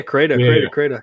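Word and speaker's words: Crayta: So, but now another game that I noticed that you like from Stadia is Crata. That's how you pronounce it? Yeah, Crata.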